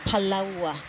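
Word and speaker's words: palaoa: And then the sperm is palaua. Palaua? Palaua. Like the island? Yeah. No, like palaua. Palawa. Spelled like it's spelled. That's how you say it.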